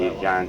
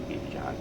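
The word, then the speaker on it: Birjand: How do you spell that? Birjan is B-I-R-J-A-N-D, Birjan.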